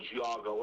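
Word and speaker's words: Geauga: our own little local nice amusement park called Giago Lake. Oh, that's what I'm talking about. That's what I pronounced it wrong.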